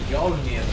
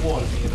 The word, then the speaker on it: Wolnir: Questo lo pronuncio Yolnir o Wolnir? Penso Wolnir o Wolnir. No, perché Yolnir sarebbe con la G. Allora Wolnir, sì.